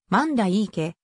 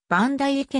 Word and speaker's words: 万代池: も土公園の読み方はマンダいい家と版大会家の 2 通りがあり地元では両方の言い方がされている池を管理する